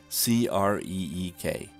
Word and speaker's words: creek: pronunciation of the word c-r-e-e-k they're positive that only utans say crick instead of creek let me give you